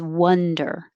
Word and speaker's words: wonder: around wander about and 13 is wonder the vowel is uh as in up so the jaw can stay more closed wha the toss pulled